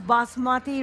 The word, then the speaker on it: basmati: really beautiful fragrance because this of course is basmati rice correctly pronounced and basmati means the queen of fragrance